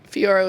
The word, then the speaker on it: Fiorot: But then that last fight with Fiorot, is that how you pronounce it? Fiorot?